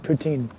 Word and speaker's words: poutine: don't think so David I'm just gonna explore poutine okay so I was saying it right poutine I'm excited to try it I'm excited to